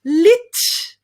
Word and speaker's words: literature: not pronounced literature definitely not the way to pronounce this word is lit much easier lit try it great so